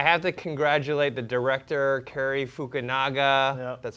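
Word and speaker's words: Cary Fukunaga: I have to congratulate the director, Carrie Fukunaga. That's how you pronounce his name.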